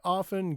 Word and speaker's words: often: I often get tomatoes for Tim. This tea is silent for no reason.